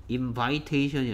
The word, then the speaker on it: invitation: 그 다음에 초대하다 invite 초대 invitation i의 발음이 여기에 v 뒤에 있는 i는 아, e 발음 invite였는데 얘는 invitation이 아니고 여기에 v 다음에 있는 i의 발음이 e 발음으로 바뀝니다.